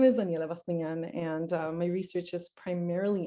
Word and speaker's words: Daniela Bascuñán: 10 with yours so thank you lois for pronouncing my name properly i really appreciate that um so my name is daniela vaspinan and my research is primarily interested in how